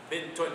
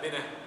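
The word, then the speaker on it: بنت: You actually pronounce the ta. Bintun. It's not binah. Right? It's bintun.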